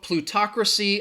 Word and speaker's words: plutocracy: word okay plutocracy so plutocracy again it has four syllables and the stress is on that talk that that second syllable plutocracy and if you're wondering